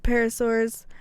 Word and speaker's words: pterosaurs: I thought it was hilarious for my P topic to pick something that has a silent P.